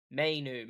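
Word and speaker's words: Mainoo: Mainu.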